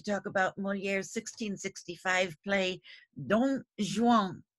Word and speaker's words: Dom Juan: Today I'd like to talk about Molière's 1665 play, Don Juan. You'll notice that he spelled Don unusually with the M, but it's pronounced the same.